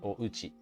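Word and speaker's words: お家: Japanese so demo but Uchi you might think it's spelled and it is it can be spelled like that but with the with the O in front of it it's usually red as ouchi my house but I gotta stay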